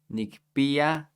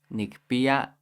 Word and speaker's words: nikpiya: In the Huasteca, this K, since that's at the end of a syllable, it's more soft, so it kind of sounds like an H.